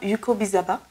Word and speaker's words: Yukobizaba: Nous recevons l'évangéliste Martin Yukobizaba. C'est comme ça que ça se prononce.